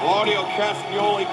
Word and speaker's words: Claudio Castagnoli: Claudio Castagnoli capturing the Ring of Honor interview with Claudio Championship.